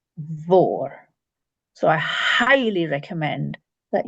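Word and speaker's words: mhòr: MH is also V, and this becomes vor.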